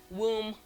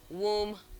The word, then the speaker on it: womb: So it's found in man, them, hammer, swarm, number, film, lamb, comb, womb, mercury, bomb, market. Okay, this is not comb. The B in comb, lamb, womb, and BOM are all silent.